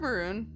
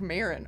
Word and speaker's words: Maron: good deal guess you should be flattered mark maroon uh maren oh mark maron oh wow wow butchered that uh a comic host the for